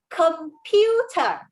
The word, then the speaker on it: computer: And can you tell me the word computer, is it a soft C or hard C sound? It's a hard C, I think.